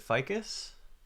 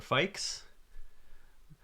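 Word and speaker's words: Fikes: here he is uh how do you pronounce his last name is it ficus or fix mike spikes i don't know how to pronounce his last name he did a talk at uh i was at um it it rhymes with mike yes okay thank you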